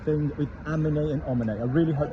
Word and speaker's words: emmener: But we need to pronounce it amen.